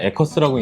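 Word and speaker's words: Aquis: 아퀴스라고 하는 것보다 저도 한국식으로 그냥 에커스라고 읽는 게 더 편한데, 이게 왜 에커스인지 저도 아직 이해는 할 수 없지만 네. 한국에서는 이걸 많이 에커스라고 부르더라고요.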